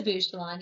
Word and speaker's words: Bouchillon: dedicated Community leader please welcome do I pronounce it bushelon bushelon yes and it's um it's nice to be